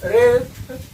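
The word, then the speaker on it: wrest: उसके बाद है रेस्ट, तो रेस्ट में आपका जो है डब्ल्यू साइलेंट होगा।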